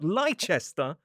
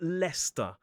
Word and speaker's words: Leicester: For example, it is not Lychester, but Leester.